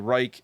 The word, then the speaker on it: Reich: But yeah, I've always pronounced it the Reich or any like Altdorf used to be called Reichdorf. But I feel like I have read about the joke of calling it the Reek because it reeks, smells bad.